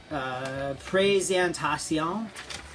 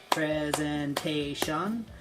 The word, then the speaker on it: présentation: interesting things like the this is the word présentation. In English, we would say presentation. So when it comes to like the syllables, presentation, we usually cut our syllable off at a consonant sound, whereas the French, they cut it off after the vowel. So like pré, P-R-E, pré, and then sentation.